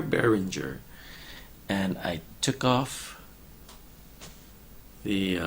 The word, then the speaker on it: Behringer: is a different microphone it is the Barringer berenguer Berenguer a Behringer and I took off